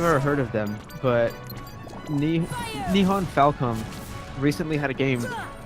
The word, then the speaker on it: Nihon: Nihon, as in how we've pronounced Boom! Japan. Say that again. Nihon, as in the way we've pronounced Japan.